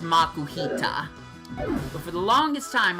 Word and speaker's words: Makuhita: Makuhita. But it's pronounced Makuhita. But for the longest time, I called it the Makuhita.